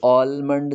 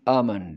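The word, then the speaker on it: almond: exam हो and जेईएन यह ऑलमंड नहीं है इसका l साइलेंट है तो इसको पढेंगे अमाउंट रिपीट आप टमी आमंड MP3 है अब यह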